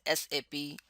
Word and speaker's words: SAP: more what is sap sap is pronounced as sap never pronounced as sap of a tree it is a system